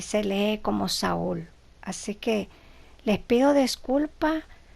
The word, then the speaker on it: Saul: biblia en inglés que saulo se pronuncia como saúl para los que tienen